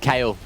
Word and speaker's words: Kayle: I need to say that Kayle definitely rhymes with scale, and that's exactly what we saw yesterday.